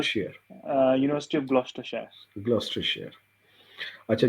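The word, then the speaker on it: Gloucestershire: Gordon university है, इसके बाद ऑक्सटॉल, इसको क्या प्रोनाउंस करेंगे, यूनिवर्सिटी ऑफ ग्लूस सर ये ग्लूस्टरशायर share university of ग्लॉस्टरशायर।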